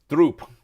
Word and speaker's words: drop: So, droop or drope? What does it rhyme with? Droop rhymes with coop, or drope rhymes with rope?